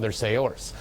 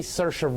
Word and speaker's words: Saoirse: I'm doing this reviews to pronounce Saoirse Ronan 's name correctly since in both my Brooklyn and Lady Bird reviews I called their sailors my apologies but she